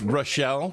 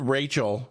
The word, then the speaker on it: Rachelle: But Well, you know, my wife's name is Rochelle, which is spelled Rachelle, which is, I mean, I understand it's close to the word Rachel, but 9 times out of 10, someone calls her Rachel.